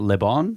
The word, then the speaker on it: Le Bon: That's Gustave Le Bon.